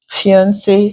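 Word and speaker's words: fiancé: Fiance, cafe, the E there contains the A sound.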